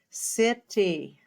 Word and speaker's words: city: And in the word city, we spell CI. The I makes the C say S, city.